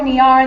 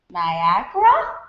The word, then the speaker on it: Niara: Niara looks like Niera, Niara, Niara, Niara, Niara, and sometimes rips slowly and uncertainly out of mouths like Niagara? As if I've misspelled my own name without a G.